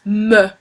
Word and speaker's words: me: me don't pronounce it me it it uh it's written the same uh as the English version but it's not pronounced the same it's pronounced meh um the direct object